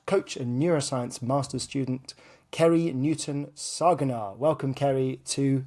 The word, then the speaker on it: Ceri: what you do so uh my name is krie uh and thank you for pronouncing my impossible name uh well that's always